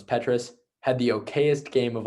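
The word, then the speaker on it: Petras: too for iowa spencer petrus who that's how you pronounce his name i learned i thought it was petrus had the okayest game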